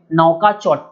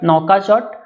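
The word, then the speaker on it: Nouakchott: तो मॉरिटानिया का जो कैपिटल और करेंसी है दोनों थोड़ा अजीब है प्रोनाउंसिएशन में। तो इसका जो राजधानी है उसको हम लोग बोलेंगे नौकाचोट, ठीक है, नौकाचोट।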